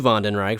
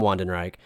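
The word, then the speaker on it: Wandenreich: just the same as how they mispronounced ven Reich a couple weeks ago and then they switched it to to to ven Reich from Wen Reich so I guess the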